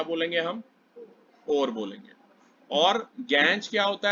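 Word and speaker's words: gangue: यही जो मिनरल होते हैं ये इम्प्योरिटीज होती हैं, इन्हें कहते हैं गैंज। क्या कहते हैं? गैंज, या गैंगू भी कहते हैं प्रोनाउंसिएशन, ठीक है।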